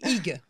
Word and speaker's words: hygge: Bon, alors on dit hygge.